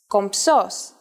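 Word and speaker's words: κομψός: in Greek this is compos and even though writing it isn't that hard saying it is a little tricky since you have to combine the m and the P sounds for the moment though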